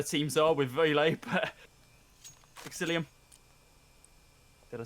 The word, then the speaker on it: Exillium: one of the teams are with very late psyllium did I say it right that time yes